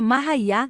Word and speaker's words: Maria: para ganhar a espiritual Maria cuja pronúncia é mahá nasceu em 1844 em